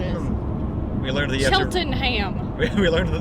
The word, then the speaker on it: Cheltenham: Cheltenham. That's what it is. We learned that Cheltenham. We learned that the correct way to pronounce British towns is just to take every shortcut through the word possible.